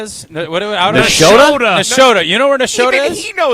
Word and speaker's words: Nashotah: Level, you know where Nashotah is? Nashotah?